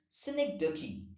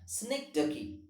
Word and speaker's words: synecdoche: is called as synecdoche the pronunciation of this particular word is synecdoche remember that snake ducky and here i have